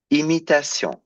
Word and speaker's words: imitation: Usually, I told you a double M makes the M, but a single M makes an un. But here it's followed by a vowel, so you pronounce it as an M, as it's written.